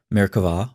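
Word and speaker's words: Merkavah: mysticism called Mera mysticism frequently spelled with a B but pronounced with a V Mera or Throne mysticism refers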